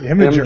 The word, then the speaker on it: Imgur: It's Imager, Imgur.